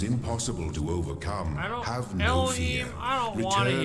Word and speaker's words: Elohim: That's how you pronounce it, Elohim.